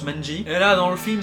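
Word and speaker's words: 卍: En japonais, ça se prononce Manji.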